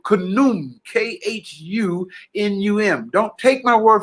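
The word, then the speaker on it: Khnum: from the egyptian ancient nile valley god called canoon k-h-u-n-u-m don't take my word for it write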